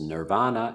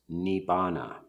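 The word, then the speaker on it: nibbāna: The early suttas, and the word which is commonly pronounced nirvana in Sanskrit is pronounced nibbana.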